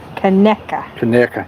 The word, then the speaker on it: Canuck: doing today he said Canuck is pronounced connecta yeah I know I've heard it both ways I think a lot